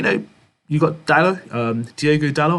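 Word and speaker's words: Diogo Dalot: you've got dallas um diego dallow i think that's how he pronounces um his name he played really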